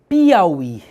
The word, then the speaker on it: Piauí: Observe que Piauí, a sílaba tônica é esse I aqui. Só que esse U aqui é uma semivogal. Semivogal separada de vogal é um falso hiato.